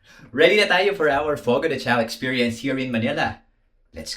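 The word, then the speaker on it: Fogo de Chão: may proper pronunciation yun eh. Beyond Fogo de Chao, di ba? Fogo de Chao.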